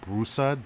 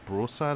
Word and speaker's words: Broussard: who headed by israel broussard bro son I believe that's how you pronounce his name yeah and of course